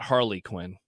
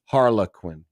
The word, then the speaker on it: Harlequin: har um Harley Quinn it's the brand it's the publisher not Harley Quinn harlequinn I don't know how